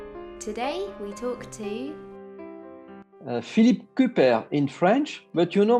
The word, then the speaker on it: Cuper: And when he came in France, after the First World War, his name, the French pronounce like in French, but normally it's Cuper.